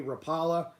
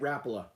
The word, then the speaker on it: Rapala: are actually a few more people that say rapala than those of you who say rapula but i know that the the rappel of family and the company as a whole pronounces it rapula and i know that mike iaconelli does as